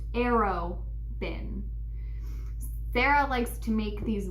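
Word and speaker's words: Arobynn: urban open it's pregnant it looks like arid bin but it's pronounced arrow bin Darrell likes to make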